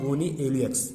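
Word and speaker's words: Gonyaulax: रेड डायनोफ्लेजिलेटेड गायनोइल्यूक्स, गोनिएल्यूक्स, इसको गोनिया ल्यूएक्स या तो गोनिया ल्यूएक्स, बराबर, जो पढ़ना पड़े लेकिन स्पेलिंग सही लिखो। तो मैं इसको पढ़ता हूँ गोनी एल्यूएक्स।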